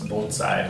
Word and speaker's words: bonsai: Yes, the correct pronunciation is bonsai.